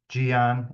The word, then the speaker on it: Gian: First name, Gian. It's usually the first question that pops up. It doesn't look like you say it like Gian. It's a G. It's like neon, but with a G.